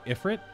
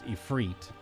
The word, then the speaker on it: Ifrit: with ephr even though I think the 14 pronunciation would be just be Ifrit whereas the 16 pronunciation is ephr although interchangeable dialect pronunciation whatever